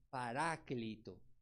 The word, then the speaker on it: paráclito: viene de una palaba una palabra griega que se pronuncia paráclito paráclito que significa alguien